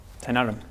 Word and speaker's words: Tynarum: I spell that as Tynarum. The way it is spelled. Tynarum. Yeah.